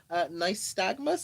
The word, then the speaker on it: nystagmus: So, first of all, nystagmus, am I pronouncing it correctly?